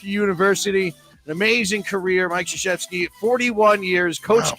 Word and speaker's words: Krzyzewski: It's Krzyzewski, like Krzyzewski.